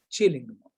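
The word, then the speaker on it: Killingmo: written as killing mo but actually i found out pronounced as chilling is a paper in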